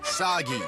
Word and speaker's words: Sagi: Cliche burden boy of action who will save us all is named Sagi. Rhymes with Saki.